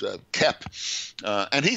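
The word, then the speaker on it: Koepp: yeah k-o-e-p-p he's so famous now that people pronounce his name correctly it's not cope it's uh kepp uh and he says he's written several at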